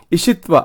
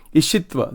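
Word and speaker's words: Isitva: Ishtva, I-S-I, or Ishitva. I'm not saying this right. I'm sorry. It's called Ishitva. I have to see the Sanskrit actually. This is written in English here. Ishitva. I-S-I-T-V-A. Ishitva.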